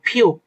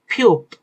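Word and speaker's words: 피읖: এটা আমরা যে ফু বলেছি ফু হওয়ার কারণ হচ্ছে এই অক্ষরটার নাম ফিউপ। ফিউপ। পি এইচ এর মত উচ্চারণ অনেকটা।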